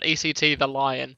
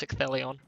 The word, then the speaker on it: Ecthelion: Yes, it's not ECT the Lion either, as I think I've seen someone try and pronounce his name before. That's quite funny. Oh, at least I hope to heck that it's Ecthelion.